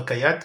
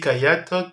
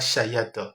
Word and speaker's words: Kayat: vous avez la lettre Kayat, donc le CH, donc juste en bas donc de la page. Vous avez Kayat qui se prononce comme le K, ok, donc c'est pas Chayat, ok, donc la lettre CH se prononce comme un K.